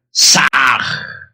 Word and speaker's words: Sah: Al exhalar, pronunciad el mantra Sah.